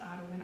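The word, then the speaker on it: Audouin: in the color outn I think it's pronounced outn I never know how to pronounce that color name it's the Au u d o u i n is the spelling of it I bought this yarn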